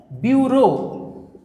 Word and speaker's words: bureau: যে শব্দটা নিতে চাইছে সঠিক শব্দ সেটা হলো বিউরো। এখন বিউরোর সঠিক যে স্পেলিং সেটা হলো BUREAU, এইটা অপশান বি হবে রাইট। এর উচ্চারণটা কিন্তু এইটার মতো, বিউরো। উচ্চারণ হবে ব্যুরো, কিন্তু বানানটা হবে, স্পেলিংটা হবে BUREAU।